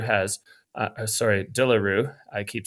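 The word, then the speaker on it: De Le Rue: hard to eclipse the legend status that zavier dearo has sorry daro I keep saying his name wrong zavier dearo um he corrected you that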